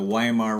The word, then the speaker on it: Weimar: Do you talk about the Weimar Republic?